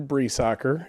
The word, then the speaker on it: Briesacher: So my name's, first of all, Breesacker, and if you can see, it's pronounced nothing like it's spelled. So it's pronounced Bree like the cheese, soccer like the sport.